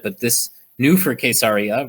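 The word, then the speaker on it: קיסריה: this new for a case Arya which is how we pronounce it in Hebrew is that this year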